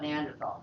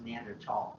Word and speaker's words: Neanderthal: I guess it's pronounced Neanderthal because Tal is valley.